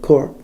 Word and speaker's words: corps: see them IPS yes that's what it said core core that's core yeah it's weird about French and other manages you don't pronounce them lay out parts of it like